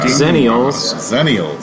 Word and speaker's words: Xennials: Zennials. Zennials. Oh yeah, you don't pronounce the X.